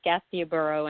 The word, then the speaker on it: Gastiaburo: Am I pronouncing it wrong or right? Oh, you're doing fine. It's Gastiaburo and Stella is our team, yes.